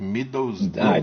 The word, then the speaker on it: Middlesbrough: Middlesbrough. Demais, sua pronúncia tá perfeita.